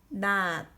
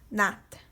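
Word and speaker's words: 낮: So 나 plus ending consonant 지읒 is not. Not is daytime, daytime. So not, sickle, not, daytime. Same pronunciation is but different means.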